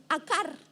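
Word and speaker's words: עקר: que fue escrito, aparece una palabra que es akar, A-Q-A-R, se pronuncia akar, que significa esterilidad.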